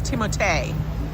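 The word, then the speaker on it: Timothée: his name I'm sorry it's timot timot shal cuz he wants his name to rhyme it's not Timothy it's timot but um everybody's saying the same thing and I'm serious that's how he pronounces his name but um I have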